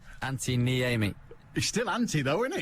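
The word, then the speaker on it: Antti Niemi: Fulham goalkeeper Antinimi has announced his retirement. I've got an Anti-Am, but I've never had an Anti-Nimi. Do you want a proper pronunciation? Oh, go on then. Anti-Niemi.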